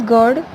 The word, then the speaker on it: GERD: 14th is GARD, pronounced as GERD, stands for gastroesophageal reflux disease.